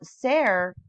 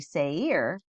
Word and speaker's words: Seir: Now, Ser can also be translated as he-goat. So here on Blue Letter Bible, if you look up the pronunciation, I'm saying it wrong, I guess, is actually Seir.